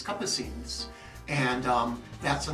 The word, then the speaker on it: Capucines: Some will pronounce it Capucinis, but it's Capucines, and that's the name of the Starbucks.